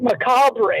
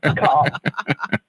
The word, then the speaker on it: macabre: Like, when you read the word macabre, it doesn't look anything like the way it sounds. Right. Yeah. It's like macabre or something.